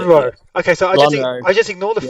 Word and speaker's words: Lonhro: I'm going to try and pronounce this right just once. Lonhro? Lonhro. Yeah, the second time you got it. Yeah. Lonhro. Okay, so Lonro.